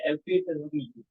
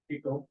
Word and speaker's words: epitome: As for the word of the day, I may be wrong, but the generally accepted pronunciation is epitome. And I may be wrong, but yeah, so it's not an epitome.